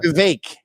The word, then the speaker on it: Vivek: Vivek. It rhymes with cake.